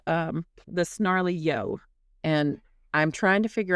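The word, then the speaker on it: Snarly Yow: So, this is called um the snarly yo. And I'm trying to figure out if I'm saying that right. I think it's snarly ya like cow. It's spelled y.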